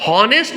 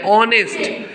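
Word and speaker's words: honest: इज एन ऑनेस्ट person नेस्ट नहीं बोल रहे क्या बोल रहे हैं ऑनेस्ट एच इसमें साइलेंट है तो ये जो ऑनेस्ट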